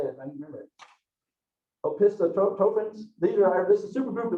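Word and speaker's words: Opisthokonta: and I actually looked up pronunciation of this. Let me say it, I can remember it. Opistotropins.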